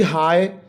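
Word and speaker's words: high: फिर है जी हाई, इसमें से जी जो है वो साइलेंट है, जी इज साइलेंट इन हाई।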